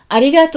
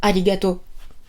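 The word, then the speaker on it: ありがとう: Et même souvent, il est tronqué en arigato. Alors, vous me connaissez, prononciation très importante. Arigato. Oh, on allonge le O. Arigato. Et pas arigato.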